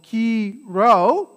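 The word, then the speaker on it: Chi Rho: comes from right so this key row when you see this right is um it's not a px right although if any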